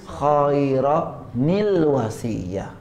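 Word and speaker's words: خَيْرًا الْوَصِيَّة: Jadi nun kecil itu berfungsi untuk menjaga tanwin agar tidak hilang. Jadi bacanya khaira nil wasiyah.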